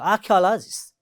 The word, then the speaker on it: archaeologist: In the same way, the last word is archaeologist, and it has 5 syllables. And among these 5 syllables, the third one is the stressed one. So archaeologist.